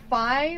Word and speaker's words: Fi: I do think that Fi or Fi, however you want to pronounce it, is way more annoying than Navi is.